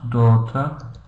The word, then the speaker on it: daughter: Daughter, for example, we've got G-H, we don't pronounce, daughter.